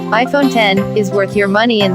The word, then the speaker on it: iPhone X: claims the iPhone X which is pronounced iPhone 10 is worth your money